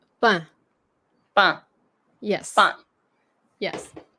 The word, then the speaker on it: pain: But like in French, like the way we say it, that's why it says nasalized. Pain.